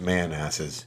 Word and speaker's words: Manassas: Pronounced Manasses.